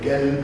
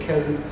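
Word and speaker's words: قلب: So although the word qalb, you know, may be pronounced as elb or gelb or kelb, you would write it with a qaf.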